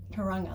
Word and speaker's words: Tauranga: Tauranga, that's how you pronounce it.